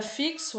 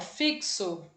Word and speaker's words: fixo: sons estão na palavra fixo aí acontece isso também né o fixo a gente tem um x mas quando pronunciamos esse x tem o som de ks e aí e agora